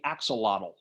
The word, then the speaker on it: axolotl: We'll look at the axolotl. Okay, in the language of the Aztecs, that should be pronounced axolot, but I'm going to say axolotl because pronouncing it axolot, axolotl, trouble to go to.